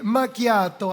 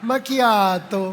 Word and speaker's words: macchiato: A ver, todos, todos, todos, todos desde la macchiato, macchiato. Si no lo pronuncias así, no, porque eso de dame un caramelo malcriado no existe, ¿eh? No existe el caramelo malcriado, no existe. Macchiato, ¿verdad? Viene del italiano manchado, ¿bien?